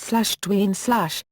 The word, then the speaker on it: Dwyane: His first name is pronounced /Dwayne/, the same as the more common spellings Dwayne and Dwayne.